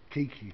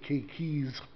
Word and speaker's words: keiki: It depends on how you say it, and where you put your kaako, which is a diphthong. It can be singular or it can be plural. Keiki. We don't say Keikis.